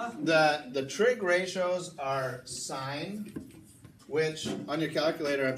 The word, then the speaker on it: sine: the trig ratios are signed which on your calculator i'm sure you've seen it they don't put simg they just with SI anna Sun sets in but it's pronounced sign good money and then